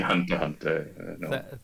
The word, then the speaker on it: Hunter x Hunter: Is actually, you don't pronounce the X. Oh, so. You're not getting monetized for this video now. You've mentioned wow. Kiss X. I mean, I've not seen Hunter Hunter.